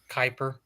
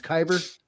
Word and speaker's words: kyber: Bob kyber crystals kyber what was I saying Kuiper oh it's kyber yeah yeah but he